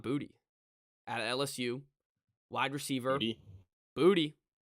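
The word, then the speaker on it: Boutte: at LSU wide receiver booty it's how you pronounce it it's not bootay it's booty and uh so booty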